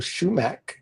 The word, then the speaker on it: Schuemack: And uh I want to I want to and I should have asked how to pronounce his name. Michael Schumac.